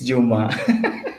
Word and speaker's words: Juma: Is it Juma or Juma? It's Juma. Juma. Okay. Sorry. Yes. I was going with the Spanish pronunciation, so it's Juma.